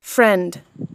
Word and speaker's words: friend: Đa số các bạn chỉ phát âm đến đây thôi. Nhưng nếu các bạn nghe kỹ và đọc đúng thì các bạn sẽ thấy là friend. Từ lần sau các bạn phát âm theo, cứ friend. Friend. friend. Thì sau này nối âm tự động cái âm đờ nó sẽ nối sang.